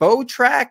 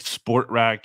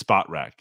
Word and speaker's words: Spotrac: People always get that wrong, or they think it's like SportRack, you know, cause that's to do with sports, but it's not, it's SpotRack.